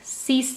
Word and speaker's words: six: five seas for six C's means me is being the most easy because it say as simple as a six in English but you pronounce it as C's okay all of these